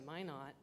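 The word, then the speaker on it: Minot: bachan's a great example if you've been to my not they say why not my not freezing's the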